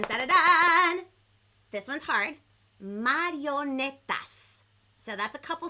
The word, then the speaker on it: marionetas: Marionetas. So that's a couple syllables. Let's do it very slow on the count of 3 in Espanol. 1, 2, 3. Marionetas.